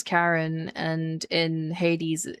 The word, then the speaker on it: Charon: It's um Karen it's Karen as in Do you remember Charon from Hades? It's it's spelled like that, but in this game it's pronounced as Karen and in Hades it's pronounced as Charon.